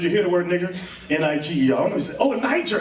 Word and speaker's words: Niger: That's pronounced Niger. That's the new pronunciation. When during the time of Jesse Jackson, a lot of people got angry with that word. They said, we got to change the pronunciation of that word. Let's make it Niger. So you say Niger, like the Niger River.